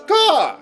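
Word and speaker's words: Gau: My name's Gaw! Gaw! It rhymes with Paul! At least that's how I'm pronouncing it, viewers.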